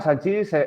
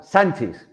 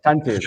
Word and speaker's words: Sanchis: Bueno, perdón, Joan, Sánchez, porque no lleva acento. ¿Lo he pronunciado mejor? Sánchez, gracias. Correcto.